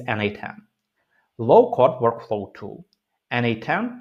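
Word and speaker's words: n8n: NA10 pronounced as NA10 lets you design custom automations by connecting different apps and services visually.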